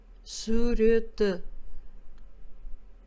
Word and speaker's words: суреті: Мы должны, по мнению создателя учебника, произносить «суреті». Слово «кімнің» переводится «чей».